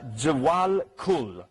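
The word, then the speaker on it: Djwhal Khul: Jawal Kul, I think is the name. It's spelled D-J-W-H-A-L, Kul, states, scientists have not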